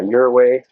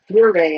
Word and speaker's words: Ouray: Yeah, your way. How you pronounce it? Your way, I think.